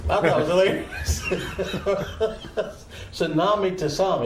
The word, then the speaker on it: tsunami: said, "You got to be careful with the tasami." And I said, "A what? A tasami?" I said, "Spell that."